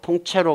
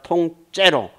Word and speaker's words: 통째로: 송두리째 통채로 삼켜 버렸다 고 통체로 가 아니라 통째로 그렇죠 예 그런 것도